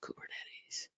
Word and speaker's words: Kubernetes: I said it right, Kubernetes. May spell it right.